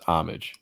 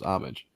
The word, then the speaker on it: Homage: So that's how it's pronounced then, is Homage. Homage. Yes. Yeah. Okay. There's always a debate on how you pronounce that. No, it's Homage, right? Okay. Yep. Yeah, I think it's Homage. Yeah, that's what I always thought it was.